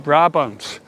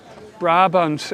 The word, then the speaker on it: Brabant: means the monkey from Brabant. Brabant is a province in the south of the Netherlands. And I always think it's so funny. In Dutch you say Brabant, in French it's Brabant. Definitely sounds better in French.